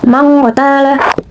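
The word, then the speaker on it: من قتل: Selanjutnya ada mang qatala. Hukum tajwidnya yaitu ikfa, karena terdapat nun mati bertemu dengan huruf qaf atau huruf ikfa dan bacanya berubah menjadi ang seperti ini. Mang qatala.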